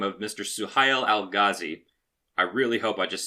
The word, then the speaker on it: Suhail al-Ghazi: Suhail al-Ghazi.